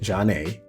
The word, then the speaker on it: Zhané: Their debut album, pronounced Zhané, also produced other hits such as Grooved Thing, Sending My Love, my favorite, and Vibe.